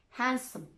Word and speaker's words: handsome: It can be silent too. Wednesday, sandwich, handsome. I'm not pronouncing the D. I'm not saying Sandwich. I'm just pronouncing the consonant and sound before it.